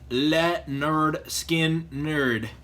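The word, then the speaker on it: Lynyrd Skynyrd: I think it's funny because this actually says pronounced let nerd skin nerd so apparently people could not pronounce it back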